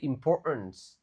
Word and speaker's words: importance: Nah, itu cara bacanya bukan importance. Tapi importance of communication.